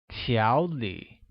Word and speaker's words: 条理: Organized translates as 条理, which is pronounced with a mid-rising tone on a and a falling rising tone on I, like 条理.